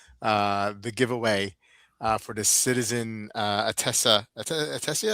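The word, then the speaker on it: Attesa: Hey, listen, let's take a little break and do the giveaway for the Citizen Atessa. Was I saying it right? Atessa. Yeah. Atessa. Yep, Atessa. Atessa.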